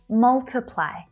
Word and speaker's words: multiply: Multiply. Multiply. So take a look at the stressed vowel sound, right? It's short.